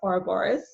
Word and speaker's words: Ouroboros: She was there facilitating one of the levels, and I signed up for her program Ouroboros, which is pronounced Ouroboros.